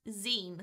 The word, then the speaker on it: zine: I pronounce this as Zine. People are telling me it's pronounced Zine, like magazine. I've pronounced it Zine because I was like, okay, mine, sign, fine, shine.